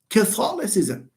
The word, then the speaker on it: Catholicism: So that's why stress, when you say Catholicism, it's not Catholicism, it's Catholicism. So we say Catholicism.